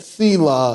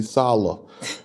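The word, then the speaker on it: Selah: it's there I mean it is spelled c law in the King James but that sea law is actually solo okay it is the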